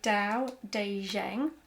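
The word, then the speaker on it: Tao Te Ching: book section is this book it's called the Dao de Jang this is how it's pronounced it's by by by LSU who is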